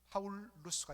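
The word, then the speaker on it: Paulus: 우리 말로 바울 이렇게 하지만 라틴식으로 그대로 발음하면 파울루스가 되는 것입니다.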